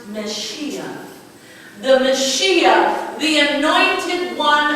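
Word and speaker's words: Mashiach: It's a Hebrew word, pronounced Meshiach.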